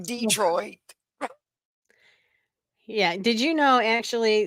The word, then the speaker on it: Detroit: Yep, like Detroit. Yeah. Did you know actually that's French? And did you know Detroit. actually it's de toi?